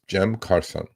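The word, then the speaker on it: Cem Karsan: Um his name is Jem Carson. Okay, that's the Turkish pronunciation of his name.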